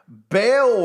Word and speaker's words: Baal: little child it's spelled b-a-a-l as in bail worship oh I'm so